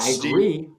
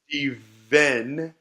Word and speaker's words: Steven: It's not Steve. Steven. Not Stephen.